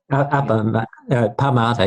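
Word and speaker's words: pamāda: You mentioned the word, I don't know how to pronounce it, pamada, carelessness. Pamada, yeah.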